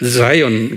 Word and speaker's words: Zion: Zion 그래요.